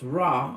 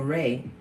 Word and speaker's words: Ra: Ra, pronounced Ra or Re, was the god of heaven, the sun and the origin of life in Egyptian mythology.